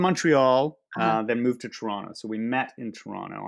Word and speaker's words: Toronto: like oh you're from toronto oh my gosh very few people pronounce the last t in conversation right i think all right